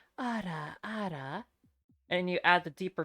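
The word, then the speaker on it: あらあら: So what you want to do is pronounce the Japanese pronunciation of it, which is ada ada. So that's like, think ADA ADA, not Yeah. ARA, if that makes sense.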